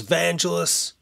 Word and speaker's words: Vangelis: Alright, so according to voice pronunciation lady, she says it's Vangelis.